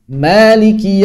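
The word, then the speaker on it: مالك: Misalnya, frasa Maliki yawmiddin. Huruf-huruf dalam rasm (aksara) adalah: Mim, Lam, Kaf. Ini sesuai dengan rasm. Tapi mengapa kita membacanya panjang? Seolah-olah ada Alif: Maaliki yawmiddin.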